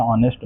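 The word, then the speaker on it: honest: अभी यहां पे क्या है कि जब हम इसका प्रोनंसिएशन करते हैं तो एच यहां पे हमारा वो साइलेंट हो जाता है। एच का जो है उसका प्रोनंसिएशन नहीं करते हैं। प्रोनंसिएशन इसका होता है ऑनेस्ट। ऑनेस्ट इस तरह से।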